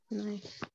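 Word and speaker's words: knee: Y se pronuncia ni, porque la K es muda.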